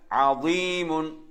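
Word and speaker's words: عظيم: அதே மாதிரி அடுத்து பாருங்க அதீமுன். அதுல வந்து ஐன், அதே மாதிரி லே. இந்த லேனால கவனிக்கணும். லே வந்து ஐன், லே. அடுத்த எழுத்து யா, மீம் எங்களுக்கு சாதாரணமானது.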